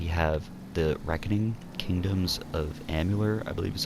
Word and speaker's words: Amalur: At number 7, we have The Reckoning Kingdoms of Amalur, I believe is how you say it.